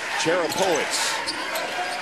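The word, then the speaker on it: Czerapowicz: This last year, Chris Cherapovich, he was called. I hear PA still calling him that. We were told that the official pronunciation, Cherapovich, which probably not a common name in Sweden where he grew up.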